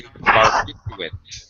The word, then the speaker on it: barbiturate: Ken, but I should not say barbiturate, which is exactly how I say it. I think 99% of all native speakers mispronounce this word.